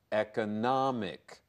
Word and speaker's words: economic: If the end is I-C, M-I-C, then it's the adjective, and then it becomes economic.